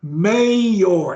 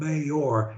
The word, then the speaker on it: Maor: Mayor. It's not mayor. It's mayor.